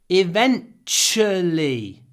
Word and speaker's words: eventually: departure Tu is CH here we have eventually Tu is pronounced CH eventually eventually the train eventually